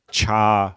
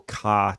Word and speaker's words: char: character so this is the Char or car type depending on how you pronounce it but the square braces